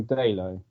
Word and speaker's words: Dalot: Right, for my first player pick, I am going to go for Diogo Dalot. Is it Dalot? Is that how you pronounce it?